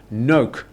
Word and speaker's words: nok: So it's a very short nok. Yeah, it's not long. It's not no.